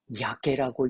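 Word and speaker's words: やけ: 자기를 포기한다라고 자포자기한다의 자포라고 하는 말을 일본어로 어떻게 읽는지 아세요? 야케라고 읽습니다.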